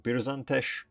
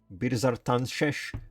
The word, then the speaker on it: Birzartanshesh: These ones, I think, this one I think I always mispronounce. I call it just Birzantesh, but it's Birzartanshesh, but just, you know what, no.